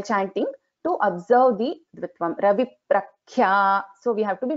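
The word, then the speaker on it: रविप्रख्या: But here in this case, Ravi Prakhya, if we do not pronounce it properly, it becomes very obvious that we are not chanting the Ditvam correctly. So if I say Ravi Prakhya, it doesn't sound well.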